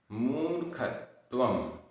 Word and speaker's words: मूर्खत्वम: किम किम मरणम मरणम, मूर्खत्वम मूर्खत्वम, आधा व बिंदी, मूर्खत्वम।